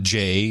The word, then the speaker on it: Jeh: Jeh Johnson, Jay is his real name.